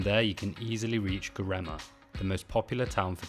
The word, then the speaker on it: Göreme: And we're actually staying in Göreme, not Görem.